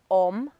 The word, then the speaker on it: Om: Because it's the way that it's pronounced as Om, but the vibrations is A-U-M. So it's the vibrations inside you that make the sound Om.